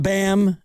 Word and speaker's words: Bam: We're talking about BAM and uh Oh, Bam rhymes with sham, by the way.